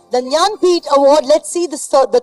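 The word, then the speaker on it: Jnanpith: try that yes yeah janit award it is absolutely the nanit award it starts with a J but it's pronounced with a the Nyan pet award let's see this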